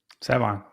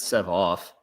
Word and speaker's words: Sevon: Let me hear how you say it. Sevon. Oh, not bad. Yeah, it's not Sev off.